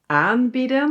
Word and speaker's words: aanbieden: The separable verb is “aanbieden" (to offer) and the inseparable verb is “aanbidden" (to worship/adore). So only one letter difference! "AANbieden" and "aanBIDDEN". Do you also hear the difference with the emphasis?